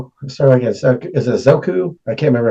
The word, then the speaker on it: Ahsoka: That's where, sorry, I guess, is it Zoku? I can't remember how to say her name. Ahsoka.